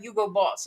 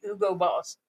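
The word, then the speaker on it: Hugo Boss: Oh, it was it was Yugo, but it's not Yugo Boss. It's the Ugo boss.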